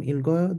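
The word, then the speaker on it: 읽고요: Why does it become ilgoyo? This G can finally replace this silent here. So when we pronounce this, we can actually pronounce it. This is pronounced like this. It'll go yo. Since it can be pronounced like this, it moves and the L and G are not competing for space.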